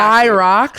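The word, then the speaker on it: Hyrox: Hi Rocks. Hi Rocks. It's spelled H Y R O X.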